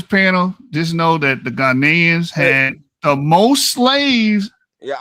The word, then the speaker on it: Ghanaians: Ghanaians.